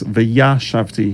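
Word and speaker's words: וְיָשַׁבְתִּי: The word for I will dwell is V'yashavti. Hear the difference? Shavti, yashavti, one more syllable.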